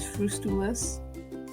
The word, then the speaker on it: frustules: frustables but maybe it's frustu-less hey everyone apologies um the last slide is actually the outer shell of a diatom is pronounced as um frustules so they're glass-like and